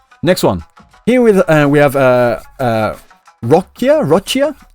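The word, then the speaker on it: Roccia: Here we have Rochia. How do you say it in Japanese? Lokoko.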